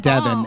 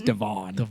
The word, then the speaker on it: Devon: of an iron a so immediately it's not devin it's devon i'm just sitting there